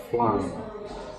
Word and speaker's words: flan: And of course, we're discussing how you pronounce flan. And I say it's the same as Southern for flying.